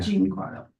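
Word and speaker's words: Giancarlo: a r l o last name Pronounce John Carlo Jean Carlo yeah Jean Carlo okay I'll let the town clerk's office knows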